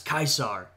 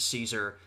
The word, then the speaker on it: Caesar: my understanding of Latin they actually pronounced it as kaisar more close to the you know the German pronunciation of kaizar right but we pronounce it Caesar and that's what they're